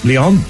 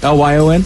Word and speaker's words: Lyon: Lyon? L-Y-O-N?